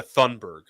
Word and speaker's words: Thunberg: It's supposed to be silent. It's Greta Thunberg.